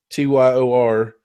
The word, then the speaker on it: Tyr: Wizards of the Lost Kingdom 2, the 3 kingdoms have been overtaken by 3 evil lords, and only Tyr, Tyor, is how they pronounce it, Tyr, a teenage boy